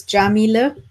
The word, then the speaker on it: Yamile: started first of all again my name is Jamila that's how you pronounce it you are probably wondering about that